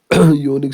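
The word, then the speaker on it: unique: क्योंकि यूनिक starts with Y. यूनिक और जो वाई है यह कंसोनेंट साउंड है।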